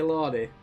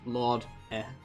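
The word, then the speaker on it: Lorde: Did I just say Lordy? Yes, I might have done. Is it just Lord?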